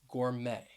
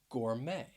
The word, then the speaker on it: gourmet: that ooh sound womb we're going to talk about a silent t that you will find at the end of some words so the first word